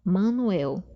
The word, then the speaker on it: Manoel: banho digamos assim Manoel Manoel no caso né que a gente pronuncia não são assim mais nasal não é mã Manuel é de um só assim mas nasal aí a gente tem